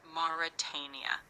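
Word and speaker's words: Mauritania: You say it as Moritania.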